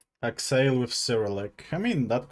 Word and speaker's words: Axeiiyl: But the correct pronunciation... no, it's not Axeill. There is no eels in my name. It's Axeill. Like E sound. Axeill.